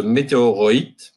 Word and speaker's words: meteoroid: So the, actually, sorry for my English, but the meteoroid is actually the correct pronunciation, is in general any interplanetary dust that orbits around the sun along different various orbits.